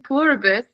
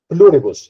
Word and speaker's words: Pluribus: Did you do you have any Yes, I know like I today I was watching Purabus.